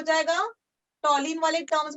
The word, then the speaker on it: toluene: क्लोरोटोलिन भी कह सकते हो, टोलिन बोलते हैं उसको, अच्छा वाला करेक्ट वाला प्रोनाउंसिएशन, क्योंकि उसके अंदर क्लोरीन को नंबर 1 मिला है।